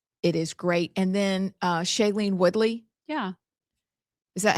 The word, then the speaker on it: Shailene Woodley: And then Shailene Woodley.